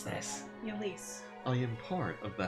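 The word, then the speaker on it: Ylisse: What's the right way to pronounce this? Yulise.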